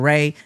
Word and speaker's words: Ray: So, my name is Ray, not Gray.